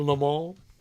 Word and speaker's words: Le Mans: The Le Mans. I'm happy you pronounced it that way because my Mans. pronunciation was not going to be as good.